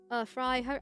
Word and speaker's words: Frey: Fry, I always want to call him Frey, because that's how it seems to be pronounced, but apparently it's not that.